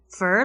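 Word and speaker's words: Führer: help from the internet fur like fern that's how you pronounce it for but it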